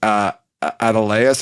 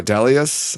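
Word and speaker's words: Adeleas: of what's up with Adeleus or Adelius. I don't remember how they pronounce it in the show.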